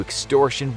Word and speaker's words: Extortion 17: But what exactly happened to Extortion 17 (pronounced ONE-SEVEN) to cause it to